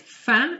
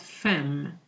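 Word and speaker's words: faim: you noticed i said fan and not femme which are often here the m is silent it's part of a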